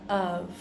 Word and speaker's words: of: we pronounce the word of right we only have one F and it actually turns out to sound more like a V sound than a f sound right because we need